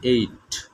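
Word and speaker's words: ate: ইট এইট ইটেন, এটার উচ্চারণ হবে এইট, অ্যাট হবে না, এইট।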